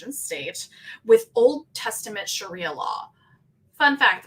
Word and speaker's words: sharia: states with old testament sharia law fun fact the first time i said that word out loud i pronounced it shariah like shania shariah twain uh and yes sharia